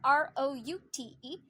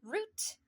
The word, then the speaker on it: route: And then the route, R-O-U-T-E. Apparently route is British and route is American.